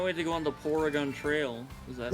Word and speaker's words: Porygon: Porygon.